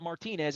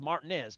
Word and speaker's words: Martinez: I even know how to say it. It's not Martinez, it's Martinez.